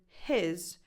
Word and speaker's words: his: in the word eat, where the vowel in the word his is a lax I, as in the word it. He, his. Also, the H of he tends to be stronger than the H of his, which if you speak faster, gets dropped completely.